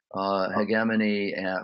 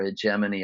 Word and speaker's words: hegemony: Some of you alluded to this, but certainly hegemony or hegemony, I think it's pronounced both ways, by the way, and the hierarchies that might be there.